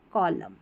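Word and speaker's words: column: तो यहां पर एन हमारा साइलेंट रहता है। ऑटम और कॉलम।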